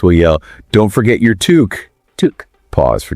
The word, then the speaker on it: toque: But it is pronounced to rhyme with the name Luke.